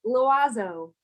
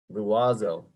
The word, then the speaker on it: l'oiseau: L'oiseau. It means the bird. L'oiseau. L'oiseau.